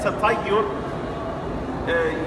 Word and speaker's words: Tatayyur: So I'm not going to go into a lot of detail right now, but at Tatayyur, it sounds like the word ta'ir, right? Or ta'ir.